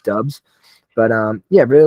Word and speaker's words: Doubs: I think it was Dubes at one point, and now it's Dubs.